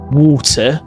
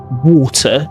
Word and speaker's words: water: For example, you might hear it in a words like water, they say water. Water, they say water. But if you want to sound more British, I would highly recommend to start pronouncing your T's.